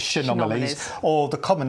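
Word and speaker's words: Chaenomeles: try and say well shomali some people say some people say kalies but I've always pronounce it as shomali or the common name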